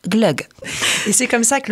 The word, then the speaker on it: glögg: de G au bout et donc ça se prononce Glog et c'est comme ça que le vin chaud